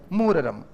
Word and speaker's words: मुहर्रम: अब सुनना, मुह, ये र इसके ऊपर, तो मूर, फिर पीछे वापस क्या? रम, ये होता है मुहर्रम।